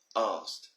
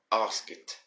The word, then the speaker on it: asked: s k e d asked now i have a now i've always had a few students that always say ask it ask when the correct pronunciation should be asked now of course i